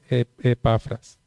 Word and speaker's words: Epafras: estaba revisando el estudio no sabía si era Epafras o Epafras, porque toda palabra esdrújula lleva tilde, ¿cierto? Entonces debería llevar la tilde en la E, pero no es así. Entonces es Epafras.